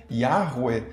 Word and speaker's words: Yahweh: nome próprio de Deus, seria mais ou menos algo como Yahweh, segundo a reconstituição atual e maior consensual entre os estudiosos, com as vogais de Adonai.